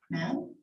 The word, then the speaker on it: Mahon: Up in the Child Welfare System by Anne Mahon. I don't know how to say her name. Mahon?